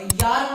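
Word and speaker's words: Jahr: और यार मतलब क्या होता है, अरे जार मत पढ़ देना, वो जे के साउंड जर्मन में वाई प्रोनाउंस होता है।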